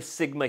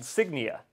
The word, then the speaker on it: Signia: thing that you may not know about the Sigma hearing aid brand is that there is um no such thing as the Sigma Hearing A brand. The brand I'm actually talking about is called Signia.